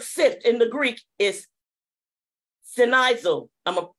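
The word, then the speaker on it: σινιάζω: to the word sift in the Greek is sinaiso I'ma spell it for you it's s-i-n-i-a-v-o and it means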